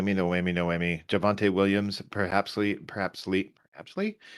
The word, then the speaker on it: Javonte: me no i mean no whammy no emmy javonte williams perhaps perhaps sleep actually perhaps lee is going to be picked by stinko javon he can't even pronounce your name right javonte yeah i said it right multiple times i